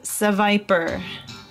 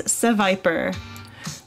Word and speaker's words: Seviper: next question guys what type of Pokemon is Seviper what type of Pokemon is Seviper maybe it's called sea Viper but it's the Viper not sure so what